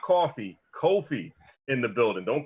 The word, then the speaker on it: Coffey: good i still pronounced coffee but gotcha right oh that tag might alright tag is coffee c-o-f-f-e-y not um coffee c-o-f-f-e-e not differentiate any pronunciation but a spelling difference because very commonly i've